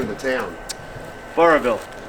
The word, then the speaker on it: Burrillville: How do you pronounce the name of the town? Burrville. Burrillville.